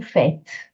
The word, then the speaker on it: faites: The answer is, qu'est-ce que vous faites? Qu'est-ce que vous faites? What are you doing? Qu'est-ce que vous faites? Again, the S is silent for pronunciation.